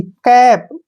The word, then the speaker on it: cap: पर जो है क्या होता है, ए का उच्चारण हम आई के रूप में करते हैं। CAT, कैट। जैसे CAP, कैप, CAP, कैप, CAN, कैन, FAN, फैन, ठीक है ना।